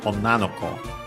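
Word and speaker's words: 女の子: Be careful that the accent is on the on na is accent on the last syllable on its own and is kept here. So it's an exception despite that the following possessive particles. So on na no ko, the accent is on the na.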